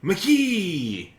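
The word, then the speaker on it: Miike: again for the viewers it's spelled m-i-i-k-e it's kind of like mike kind of universal mics kind of like mike except for the vowels have rules in japanese language and there's an extraordinary cool well because it's me okay you pronounce it twice the i is always e so e is always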